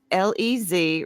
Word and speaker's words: Les: That's Lez Represent. I'm not mispronouncing the French Les, L-E-S. It's Les.